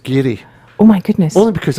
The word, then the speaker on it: Garioch: It'll be Gary Grapevine. What's it? Garioch. Is that wrong? Yes, pronounced Gary.